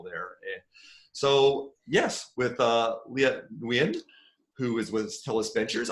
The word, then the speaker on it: Nguyen: It's Nguyen. So there's a Vietnamese like tone at the end there.